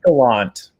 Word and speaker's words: Gallant: I always have anxiety about mispronouncing. How do you say it, Brandon? Gallant.